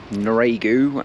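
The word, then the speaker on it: Noiraigue: So, I found out how to pronounce Noiregu, and it's Noire.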